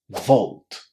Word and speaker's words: vault: videos that we said that au is generally speaking pronounced as the long o sound. So don't say o or say o when you see a u. It's going to work in 99% of the cases.